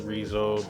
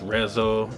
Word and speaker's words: Resoe: So yeah, I ended up, fucking evolving into Reso. So, that's how I pronounce it and shit. Some of the homies be like, they think it's Rezo, like some Hispanic homies